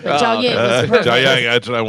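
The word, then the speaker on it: Jiaoying: Summers you did not pronounce it right. Jia Ying.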